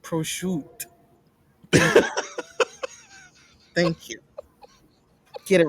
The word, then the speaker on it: prosciutto: Pascal, it's pronounced prosciutto.